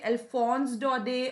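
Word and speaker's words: Alphonse Daudet: dodie also just uh keep the t silent in dot it's not dot that it's dode so as long as you say alphonse dode or alphonse if you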